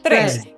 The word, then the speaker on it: tres: The next two words actually have you hear an example of a simple single trill. Re, re, re. An R when it's by itself. Yeah. Doesn't have a strong trill. Re. It's got a little trill.